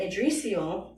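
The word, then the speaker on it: Yggdrasil: and I was like what the fuck is edal because it's spelled y g g d r a s i l so I was like Curious so then adrial is a sacred tree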